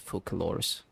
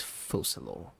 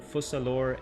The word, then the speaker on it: Focalors: So Fossalor, and the S at the end of the name is silent as well.